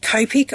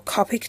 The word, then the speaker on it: Copic: about the glare it's the copic or copic depending on how you pronounce it um it's this airbrush